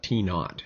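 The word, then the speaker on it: t₀: a little zero down there let's call it t naught as it's pronounced okay so that's all that this t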